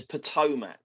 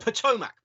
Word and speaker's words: Potomac: He's had one previous appearance at Potomac, and I think it's Potomac, by the way. Potomac.